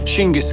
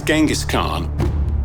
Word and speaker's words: Chinggis: new reign name of Chingis Khan. There's this strange thing where the name ended up as Genghaskhan. We think that the way the word got written in Persian, the pronunciation changed.